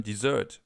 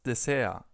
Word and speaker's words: Dessert: But we also have the term dessert. We just pronounce it das Dessert. Das Dessert. So a little more like the original pronunciation in French, where this word is actually from.